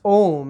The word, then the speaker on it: AUM: regarding process technology the new Indian AUM which is pronounced as ohm and ohm stands as an Indian religious symbol is already ahead of